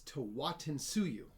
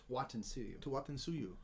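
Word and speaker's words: Tawantinsuyu: It says it's Tawatinsuyu. Tawatinsuyu.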